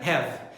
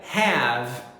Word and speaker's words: have: E sobre pronúncia, pessoal, lembra que essa letra A do verbo have, ela é pronunciada um pouquinho mais exagerada. Então não diga have, diga have. Viu aí? Ela é um pouquinho mais longa.